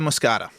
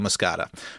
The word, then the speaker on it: moschata: do you pronounce Cucurbita moscata? With a soft CH like sheep or a hard CH like cake? And Michael wrote back, in English, like sheep.